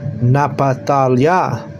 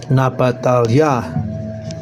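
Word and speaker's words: נפתלי: And this is how you say it in Hebrew. Napatalya. Napatalya.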